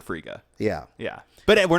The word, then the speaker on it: Frigga: Freya hashtag said frico I don't remember they pronounce it Frigga yeah yeah but we're